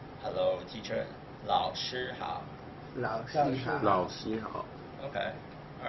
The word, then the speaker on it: 老师: 老师好. Okay. Yeah. Okay. Rob, you said 老师好. 老师, you have to roll your tongue.